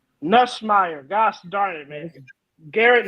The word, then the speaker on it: Nussmeier: Say his name right. It's Nussmeier. Nussmeier.